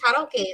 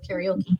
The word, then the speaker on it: karaoke: tell you how many times I went to karaoke, and because it's actually Japanese, it's pronounced karaoke instead of karaoke, but it's okay.